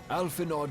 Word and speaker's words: Alphinaud: Alphinaud, my boy. Sorry to have been such a burden. He pronounced the I D in Alphinaud.